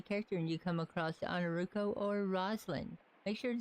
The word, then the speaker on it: Ainurauco: run by Yours Truly on our rufo for anybody that ever has trouble pronouncing my name because it is a little weird just call me but it's actually pronounced on a ruko but don't forget to